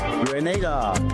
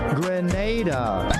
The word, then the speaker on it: Grenada: So, today, like we Germans say, we are in Grenada. But, I heard in English it's called Grenada. Say it right. Grenada.